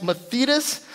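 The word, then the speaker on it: μαθητής: that so a disciple the greek text is pronounced mathetas and i usually get that wrong but it's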